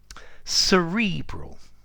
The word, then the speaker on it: cerebral: Cerebral or cerebral. You can use both pronunciations.